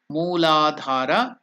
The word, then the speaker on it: Muladhara: slide so you can now chant that name muladhara the lowest chakra then the next chakra is